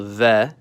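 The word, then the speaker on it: В: the Latin capital B it's called ve and like Spanish it makes a v sound V this cerlic letter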